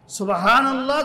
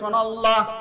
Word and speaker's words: সুবহানাল্লাহ: digital পদ্ধতিতে তো আসেন সুবহানাল্লাহ যখন আমরা বলব অত্যন্ত তাজিমের সঙ্গে মহব্বতের সাথে বলবো সুন্দর করে উচ্চারণ করবো অনেকে দেখবেন বইসা বইসা সুনাল্লাহ সোনাল্লাহ সানাল্লাহ বলতেছি লাখো কোটি বার বললেও